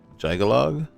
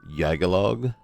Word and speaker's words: Jyggalag: Journals of I want to say Jagalog. Not exactly sure about the pronouncing. If if anything it would probably be like you know how they pronounce Bjorn. So Yagalog is probably the correct pronunciations of journals of Yagalog. I could be wrong.